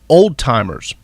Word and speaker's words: Alzheimer's: only in the south Alzheimer's is actually pronounced and that this always drove me crazy working in the healthcare industry but Alzheimer's is pronounced old-timers I know and it's